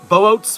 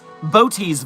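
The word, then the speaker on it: Boötes: Boot's Void? Bote's Void? What was it? What was the silly way to pronounce this word?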